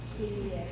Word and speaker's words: Kyrie: What do we know about K? It's always hard. What about Y? E. Okay, what about the R? If it's in between two vowels. It's not wrong. Split, right? Okay, I. Okay, and an E. Say that. Kyrie.